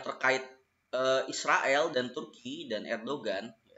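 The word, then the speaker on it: Erdoğan: ke Israel tentu bidan Erdogan kalau kata orang bacanya Erwan tapi ane males males apa namanya mengucapkan huruf halaq kVA sahnya gitu jadi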